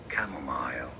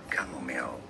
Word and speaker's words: chamomile: that on your ne it is said and can be pronounced correctly two different ways as chamomile chamomile or camomile oh oh oh parehas